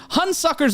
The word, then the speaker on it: Hunsucker: It's spelled Hun, as in Attila the, and Sucker.